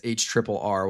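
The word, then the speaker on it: HRRR: Is it H triple R or her or HR r? I personally pronounce it as H triple R. What about everyone else in the chat? I pronounce it as the her personally. It really doesn't matter. It's all the same model.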